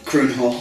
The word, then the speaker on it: Kroon Hall: Kroon Hall, have I pronounced it correctly? Kroon Hall.